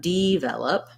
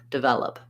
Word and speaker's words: develop: first syllable were stressed i'm stressing on the vel syllable and that's where my clear vowel is devel and then again last syllable is unstressed so we don't say let an o sound for the letter o we say the uh sound like a schwa so i would write it like this devel up develop for any word that's